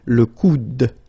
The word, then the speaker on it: le coude: second one here is le coude. Okay, remember you don't insist on this final E, it only gives you the sound of d at the end.